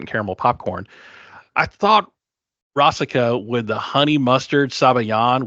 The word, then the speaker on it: Rasika: So the last course here, we had Rasika with pretzels, or Rasica, I think is how they pronounce her name.